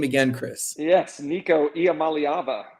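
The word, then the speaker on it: Nico Iamaleava: former football player that is a very professional pronunciation can you say his name again Chris yes Nico IAM malava how about that I you know it took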